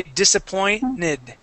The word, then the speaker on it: disappointed: as being silent okay we don't pronounce the T okay we we say disappointed disappointed okay and that's